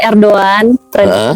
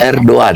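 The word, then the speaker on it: Erdoğan: juga ada di situ diongnya erdoan ya erdoan karena ngomongnya Erdogan Iya karena ternyata ejaan ejannya yang Benard ERD itu g-nya namanya yumusage jadi enggak dibaca Erdogan gitu oh erdoan ini ini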